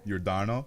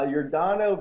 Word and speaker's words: Yordano: now how do you say his first name Yordano your Dino hello you're Donna uh Yordano Ventura is uh he's one of those guys